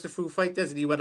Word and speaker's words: Foo Fighters: do you pronounce the Foo Fighters? And he went, I made sure he said Foo, then Fighters. Go, Foo Fighters. Exactly. Yeah, he put the emphasis on the wrong part, but that's all right, though.